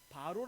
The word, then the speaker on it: 바로: 보통 우리는 뭐라 부르죠 바로 라고 부르는 것처럼 세상 사람들은 파라오 라고도 바라오 라 부르는데 성경적인 발음은 바로 입니다 이 이게 바로 라는게